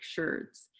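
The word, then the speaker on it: sherd: my work was going out and studying ceramic shirts which is not me mispronouncing the word chard they're called ceramic shirts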